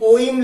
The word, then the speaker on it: ओम: लिखा हुआ है, लेकिन ओम लिखा जाता है। जैसे आप लोग जब भी ओम का उच्चारण करते हैं तो वो कैसे करते हैं, जैसे ओम खींचते हैं, उसको खींच के बोला जाता है।